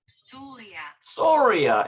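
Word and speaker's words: סוריה: how they pronounce that that's how you pronounce syria in hebrew soria and it's syria the country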